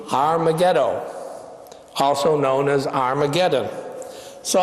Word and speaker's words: Har Megiddo: valley near Megiddo and you would pronounce that in Hebrew har Megiddo also known as Armageddon